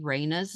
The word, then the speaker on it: Raina: Um I can also make sure that they say Raina's name correctly by playing her audio name pronunciation.